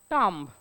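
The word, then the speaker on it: tomb: हे याला कसं वाचाल टॉम कसं वाचाल टॉम जर स्पेलिंगचा विचार केला तर पण याचा करेक्ट प्रोनन्सिएशन आहे टम यातला ब सायलेंट आहे बॉम्ब उद्या तुम्ही पोलीस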